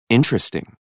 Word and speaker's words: interesting: The vowel immediately after a stressed syllable is sometimes not pronounced. Average. Different. Separate. Comfortable. Interesting.